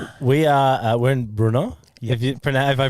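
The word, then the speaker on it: Brno: We are uh we're in Bruno. Have you have if I pronounced that right? Bruno is okay.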